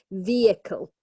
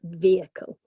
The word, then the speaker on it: vehicle: this I would say the most common is with three syllables vehicle but it's quite a tricky one you know and the stress is at the beginning so vehicle okay so you know